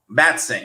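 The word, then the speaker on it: Matsson: So again, we're after season 3, which means Luca Matson is how you pronounce this? Matson? Matson, yes, and I think we should be calling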